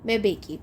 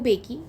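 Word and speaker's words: Mbeki: यह देखो ये रहा थैबो मेबेकी। थैबो मेंबेकी sorry Thebo बेकी am silent है।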